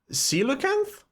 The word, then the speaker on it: coelacanth: Pronunciation, bitte. Coelacanth?